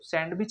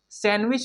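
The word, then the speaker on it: sandwich: उसी प्रकार इसे हम लोग सैंडविच नहीं पढ़ेंगे दोस्तों, सैंडविच अगर इसे पढ़ते हैं तो ये गलत माना जाएगा। इसे हम लोग क्या पढ़ेंगे, सैंडविच पढ़ेंगे। क्या पढ़ेंगे, सैंडविच, क्योंकि यहाँ पे डी साइलेंट है।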